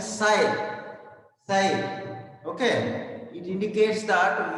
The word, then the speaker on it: psi: Here p is silent ma, p si, p silent psi, psi.